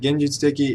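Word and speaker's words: 現実的: But the NHK says that genjitsuteki is flat. 現実的 Genjitsuteki. So that is a flat sound, and there's no reason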